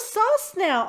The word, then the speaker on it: Sosnow: pronounce your last name before I started it phonetically for you s a you ve now doc now Oh sauce now awesome okay I had actually done a Facebook